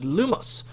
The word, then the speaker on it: Lumos: Hello class, today we'll be learning the Wand Lightning Charm, also known as Lumos. Lumos pronounced lumos.